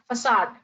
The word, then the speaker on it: facade: americans pronounce it as facade okay assad facade this c should be pronounced as s assad if assad in